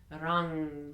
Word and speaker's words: Ram: The sound Ram, R-A-M, Rang, rang, rang.